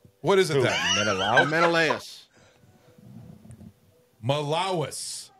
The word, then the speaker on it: Menelaus: Menelaus. Malawis. It's M-E. I even went online and looked at it. Malawis. It's M-E-N-E-L-A-U-S.